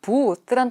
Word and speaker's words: booth: 일단 이 booth란 단어는요. TH가 번데기 발음이라고 하죠. 발음이 booth 이렇게 들려요. 그러니까 부스라고 이렇게 우리가 흔히 이야기하는데 절대로 부스라고 발음하지 않습니다.